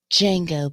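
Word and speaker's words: Django: You might know me as Jango. But the D is silent.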